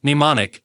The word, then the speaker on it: mnemonic: spell t-i-m-e the word mnemonic is spelled m-n-e-m-o the pronunciation of mnemonic starts with a and sound even though the spelling starts with the letter m the word mnemonic is